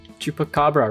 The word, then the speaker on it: chupacabra: eyes fixed on your every movement chupacabra chupacabra chupacabra right that's how it's pronounced take stock you now notice the unnatural